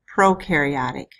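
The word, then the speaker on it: prokaryotic: First word in part two is pronounced proaryotic.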